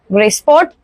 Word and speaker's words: Grisport: However, this time we have initially got the new brand, which is Graysport. It's spelled as Grisport, and it's if you know, it's an Italian brand.